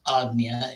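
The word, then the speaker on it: Ajna: begin with my discussing a little bit about agnya chakra the third eye chakra so even though it's spelled agna it's pronounced agnia a g like a-g-n-y-a it's location the center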